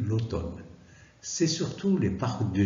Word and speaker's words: automne: de inter l'automne alors ça s'écrit automne mais ça se lit l'automne c'est surtout les parcs